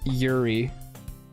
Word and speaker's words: Yuri: Yuri.